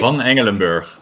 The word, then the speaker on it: Van Engelenburg: the last name, Nick Van Engelenburg, right? Van Engelenburg. All right, there we go. That's very Dutch name. Yes, it's a proper Dutch pronunciation.